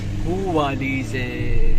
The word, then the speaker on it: Houffalize: Houffalize. Oh, this is how we pronounce it in the Netherlands. I'm not sure if they pronounce it like this here as well.